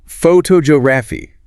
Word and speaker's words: photography: Now change it to the academic study or practice of taking pictures. Photogeography. The stress shifted entirely to the second syllable. photography, right? And the O sound in the first syllable almost disappears. It becomes a weak uh sound.